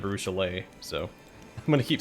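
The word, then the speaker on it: Arushalae: illusion ira you know i know it's a lucha nero and i say arusha line instead of arushalay so i'm gonna keep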